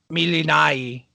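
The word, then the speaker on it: Melinoë: But this album, Milinai, that's the ancient pronunciation, by the way.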